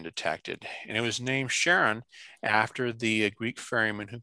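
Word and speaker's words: Charon: um for the moon even though technically is incorrect in greek it should be closer to a quest sound than a sha so just to put that out that the correct way to say it is sharon not cairon caron is about half the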